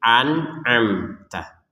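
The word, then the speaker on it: أنعمت: Tapi yang perlu ditegaskan di sini ini yang pertama hamzah, yang kedua ain. Jadi an'amta.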